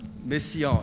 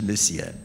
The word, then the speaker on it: Messiaen: Messiaen si dice, non si dice Messiaen. Messiaen. La metà degli italiani dicono Messiaen.